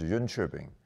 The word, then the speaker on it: Jönköping: It's a little town in southern part of Sweden, and it's pronounced Jönköping, in case you're curious about that.